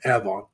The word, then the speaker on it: Avon: They pronounced it Avon, Indiana, which is a suburb of Indianapolis, because that's where the oldest members of the family lived, in that area.